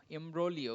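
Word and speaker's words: imbroglio: কিন্তু সস্তা এমব্র এমব্রলি এমব্রলিও উচ্চারণ যদিও জি আছে এখানে মনে হয় জি সাইলেন্ট হয় এবং এমব্রলিও উচ্চারণ হবে কনফিউজিং সিচুয়েশন অর্থাৎ জটিল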